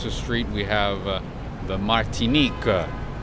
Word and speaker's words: Martinique: Martinique, that is the pronunciation.